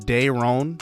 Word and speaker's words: Dayron: We start out with Dayron Blanco, and I looked this up. They pronounce it Dayron, so I will stick with that pronunciation.